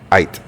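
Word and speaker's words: Aydt: Height. Ait.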